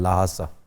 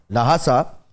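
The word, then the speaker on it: Lhasa: H pronounce नहीं भी करते लेकिन ज्यादा किया जाता है, लाहासा। लाहासा।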